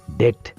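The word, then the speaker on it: debt: لکه زه وایم چې ډیټ، په ډیټ کې وګورئ تاسې بي نه تلفظ کېږي.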